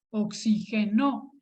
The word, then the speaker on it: oxigenó: Entonces sería la sílaba tónica esta, oxigenó. Y sí le tendría que poner acento porque es una palabra aguda que termina en vocal.